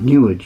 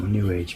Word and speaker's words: New Age: to a lot of New Age music. New Age, you know, Newage, rhymes with sewage.